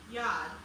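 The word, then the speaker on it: יד: In Hebrew, hand is pronounced yad.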